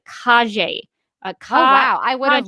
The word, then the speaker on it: Calle: Emmy nominee Sasha, and I believe her name is pronounced Calle. I looked up a video. I looked up a video of her, and this will be in the video description below. And I listened to her say her own name, and to me, it sounded like Calle.